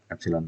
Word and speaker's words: epsilon: Ini dibacanya epsilon ya. Nah ini dibaca epsilon, bukan E ya.